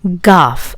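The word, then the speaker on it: گاف: Gaff. The name is Ga. Gaff, and the sound it produces is very similar to Ga, like English give.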